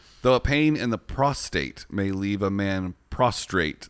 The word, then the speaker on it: prostate: a pain in the prostate may leave a man prostrate the name of the gland contains no r ew there's a big